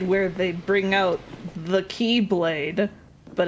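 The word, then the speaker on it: χ-blade: Yeah, that's why I Z-Blade? said it. Z-Blade. It's literally just pronounced Keyblade.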